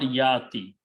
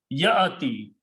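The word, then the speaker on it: يَأْتِي: It is not yati. This alif sound is not there. Ya should be combined with hamza, and this sound will be ya. Little jerk should be given.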